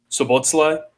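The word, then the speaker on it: Szoboszlai: I like, I'm going to try and pronounce his name, Sobotlai.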